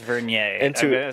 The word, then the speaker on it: Vernier: feel free to whisper it's verer I'm I'm it's it's not veneer I don't know it could